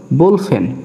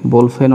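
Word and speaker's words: 볼펜: বিউব শুরুতে আছে এবং নিচে বাচ্চিম আছে, এই কারণে ব এবং ভর মাঝামাঝি উচ্চারণ হবে, তাহলে হচ্ছে বোল। এরপরে ফিউব হ, এর সাথে দিলাম একার, নিচে দিলাম নিউন, এটা হলো বোলফেন। বোলফেন অর্থ বল পেন।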